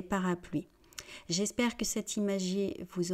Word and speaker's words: parapluies: Et je ne dis pas parapluies, d'accord ? On sait que c'est du français, donc c'est différent. On dit parapluie, un parapluie, des parapluies.